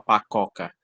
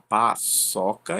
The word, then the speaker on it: paçoca: Da mesma forma paçoca. A gente não fala pacoca, a gente fala, quer falar paçoca.